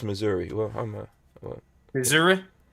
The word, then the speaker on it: Missouri: supposed to no it's missouri it's missouri yeah missouri it's missouri there's a it's a yeah it's two s's it's two s's so it's pronounced but it sounds like z's am i supposed to